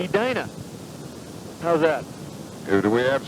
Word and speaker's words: Edina: How do you pronounce that town in Minnesota? Edina.